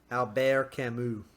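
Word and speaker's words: Albert Camus: recently too which I read The Stranger by Albert Kimu letron yeah exactly famous French author Albert or how do you say his name in French Albert Alber Camu Al bear there we go uh yeah but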